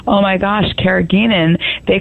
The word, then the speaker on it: carrageenan: Now, what about carrageenan? Because again, that has been getting a bad rap. Well, it's actually pronounced carrageenan, and it is produced from red seaweed.